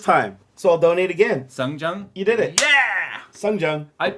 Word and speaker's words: Seongjung: Wow, you pronounced my name correctly the first time. So I'll donate again. Songjung?